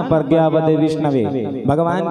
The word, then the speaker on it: विष्णवे: मूर्ख कहता है विष्णाय, और जो पढ़े लिखे होते हैं व्याकरण में पारंगत होते हैं तो सही शब्द का उच्चारण करते हैं विष्णवे, है ना।